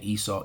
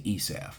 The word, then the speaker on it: Esau: Idumea, which is the Greek way of saying Esau, Edom, all right, which the rabbis and the